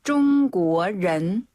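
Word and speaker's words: 中国人: 그다음에 중국인은 뚱 구어 뚱 구어 한번 더 중구어런 중구어런 그렇죠이 렌 발음할 때 혀를 살짝 입천장에 달랑말랑 한 상태로네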